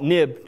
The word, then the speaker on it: NIB: my first version and i'll call it nib just because that's how the world pronounces it company identifier for now